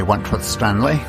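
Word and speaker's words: Wentworth-Stanley: This is Wentworth Stanley. I'm the fellow who has a hyphen in my name. The hyphen is silent, but I am anything but that.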